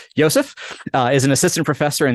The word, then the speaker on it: Josef: And Josef Woldense, I'm going to use the German pronunciation since you grew up in Germany. Josef is an assistant professor